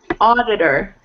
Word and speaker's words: auditor: Auditor. Auditor. Yeah, something to remember the T about... It sounds like D. Yeah, so when you see the T in between two vowels, it usually sounds like a D.